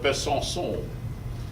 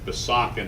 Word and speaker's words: Besançon: Well, there was a fire in 1349 in the cathedral at Besançon. That's my French friend explaining that Besançon is not the way you pronounce Besançon.